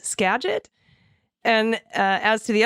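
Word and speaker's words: Skagit: I almost choked on my coffee hearing ag say Scaggot. That lovely area is pronounced Scadget. Scadget.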